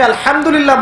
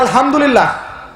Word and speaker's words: আলহামদুলিল্লাহ: হায়ে Houthi, এটাকে বলে বড় হা। উচ্চারণ কোথা থেকে করতে হয়? মাঝখান থেকে। মাশাআল্লাহ। এখানে যদি আপনি আলহামদুলিল্লাহ বলেন, অর্থ হচ্ছে সমস্ত প্রশংসা কার জন্য?